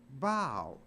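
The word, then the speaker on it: bough: rockabai baby when the bow breaks that's b o u g h but it's not pronounced buff it's pronounced bow so even O A.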